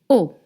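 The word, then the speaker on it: eau: And you want to read O. O. It's not long. It's O. O. And E A U in French is pronounced O.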